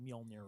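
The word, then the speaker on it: Mjölnir: Heritage would kill me if I didn't say mjolnir right exactly everybody should give him a hand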